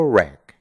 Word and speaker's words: wreck: El octavo truco es que cuando tenemos una palabra que empieza con una W y después tiene una R, solo vamos a pronunciar la R y no vamos a pronunciar la W.